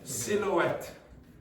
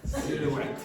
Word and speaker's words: silhouette: Next one then, silhouette. No. Silhouette. Silhouette. Yes, you must have the H. It's silent here, it's a French word.